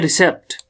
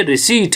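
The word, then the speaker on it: receipt: इस तरीके से हमारा दूसरा है, हम यहां पढ़ते हैं रिसेप्ट, रिसेप्ट असल में हमने पढ़ना है, ये रिसीट है, ये रिसीट है।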